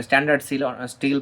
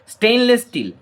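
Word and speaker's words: stainless steel: কেমন, অনেকে এটা ভুল প্রনাউন্সিয়েশন করে, ভুল উচ্চারণ করে, স্ট্যান্ডার্ড স্টিল বা অনেক কিছু বলে থাকে। স্টেইনলেস স্টিল, স্টেইন মানে হচ্ছে কলঙ্ক, মরচে পড়ে না এটাতে।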